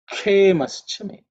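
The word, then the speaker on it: क्षेमश्च मे: The next mantra is kshemaschame. Kshemaschame. Kshemaschame. Okay. Kshe. In terms of pronunciation, kshe is ik plus the cerebral sh. Here the tip of the tongue actually points up.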